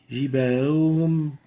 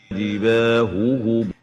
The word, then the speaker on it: جباههم: An example, جباههم, جباههم. That's not clear. The two Ha are not clearly identified from each other. And the right way of pronouncing it is جباههم. جباههم, huhum, not جباههم, جباههم.